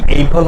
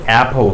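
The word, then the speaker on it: apple: অ্যাপল ইজ a fruit, আমরা এটা উচ্চারণটা কি এইপল হবে না, আপেল তো হবেই না, কি হবে তাহলে, অ্যাপল হবে, অ্যাপ।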